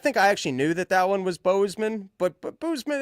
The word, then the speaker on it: Bozeman: If I hear you say Boozman one more time, I just did it. You did that to yourself there. I'm going to lose it. It's Bozeman.